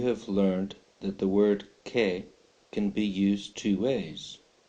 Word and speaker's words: qué: as a question word K note the accent on the E which means it is a question word it also means there's an added emphasis to the e sound when you pronounce the word okay you have also